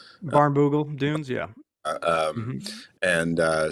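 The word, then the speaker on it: Barnbougle: And there's a a really famous track in Tasmania called I can never pronounce it right. Barn Barnogle. Baroole Dunes.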